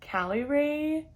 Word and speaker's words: Caliray: january 20th i believe how you pronounce this is cali ray i only feel like